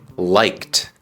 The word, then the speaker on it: liked: he Going To new liked liked también con el sonido de una t suave he liked Going To